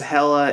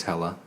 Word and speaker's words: Hela: She plays Hela. Yeah. I do not like that name. Well, I think they might be going with Hela because original pronunciation is Hell, but this is a movie kids are going to go see.